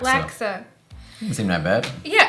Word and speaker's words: laksa: Laksa. Laksa.